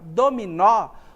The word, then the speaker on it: dominó: a gente observou a palavra dominó onde é que está a sílaba tônica na última sílaba vou até voltar aqui